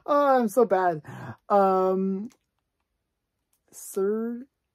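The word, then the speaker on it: Szerdy: Serdi. That's the way you pronounce it.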